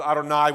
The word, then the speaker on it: Adonai: aspects of this material J is Yahweh or Jehovah or we pronounce this Adonai when we come across